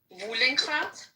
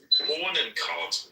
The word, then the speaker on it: Bohnenkraut: Wohlenkraut? Bohnenkraut. Bohnenkraut. Yeah, it's Bohnenkraut. It's a German thing.